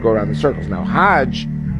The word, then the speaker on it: Hajj: around the circles now Hajj is the pilgrim to Mecca Haag is the Egyptian pronunciation hug in Hebrew means